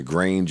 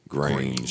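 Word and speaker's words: Grainge: Lucian Grange. I thought you were talking about Marshalls. Yeah, And that Lucian rhyme- Grange yeah. definitely sounds Sounds like like a superhero, Yeah. arch villain. And it rhymes with range.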